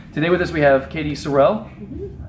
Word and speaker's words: Katy Sorrel: Today with us we have Katy Sorrell.